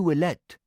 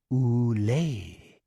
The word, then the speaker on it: Willette: She answered not to Willette, but to a much more elegant French pronunciation, Oulé.